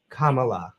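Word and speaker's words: Kamala: grandmother she'd say K I usually help people pronounce it by saying well just think of a comma and a la at the end Comm La let's go back to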